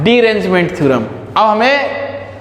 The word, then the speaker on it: derangement: Theorem जो है ना, स्पेलिंग एक्चुअली सही लिखे है ना, डीअरेंजमेंट होता है लेकिन स्पेलिंग जो है यही है डीरेंजमेंट थ्योरम।